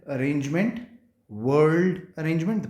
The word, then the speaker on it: whorled: This type of arrangement is called whorled arrangement. Whorled arrangement. The pronunciation is whorled arrangement.